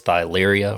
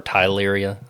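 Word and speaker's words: Theileria: known to cause this thyleria or tyleria. I'm not sure. I say thyleria because it's spelled with a TH, but I think I've heard others say it like tyleria.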